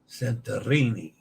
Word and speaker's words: Santorini: script jumbled up yes Santorini has an open a as in father and roll the r Santorini father Santorini Santorini how